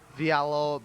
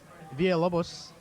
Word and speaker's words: Villalobos: Or Vialo blah blah blah blah. Villalobos. I think you're missing an. Hey, you know what? That's right, Joe. Great pronunciation on that one.